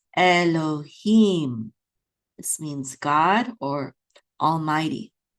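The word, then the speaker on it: אֱלֹהִים: That dot up top is a cholem. This is lo. So this is lo. And then we have a hey with a chirik, yud. Together is he. And this is a mem sofit. So this syllable right here is him. So this is Elohim.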